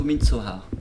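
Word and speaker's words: Midsommar: Noël, Halloween ou Mitsomar ? Excusez-moi, j'ai du mal à le prononcer. Ça se prononce plutôt mitsoha.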